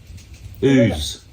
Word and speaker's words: Ouse: Ooze. With ooze. O-U-S-E, how would you say that? Ouse, Ooze, it's just with ooze. house without the H on the front.